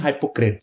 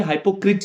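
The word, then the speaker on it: hypocrite: साथ ही साथ आपको मैं बता दूं यहां पे जो आई है ना, इसका जो प्रोनाउंसिएशन है वो ए है, मतलब हाइपोक्राइट नहीं बोलेंगे, हाइपोक्रिट नहीं बोलेंगे, इसको हाइपोक्रेट बोलेंगे, ठीक है ना।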